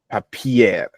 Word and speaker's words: Papier: Let me say um whenever um um an R okay um like follows a vowel we stretch the vowel papier okay papier papier